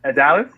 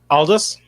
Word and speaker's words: Aldous: At Dallas. Am I saying it right? Aldous. Aldous. Yeah.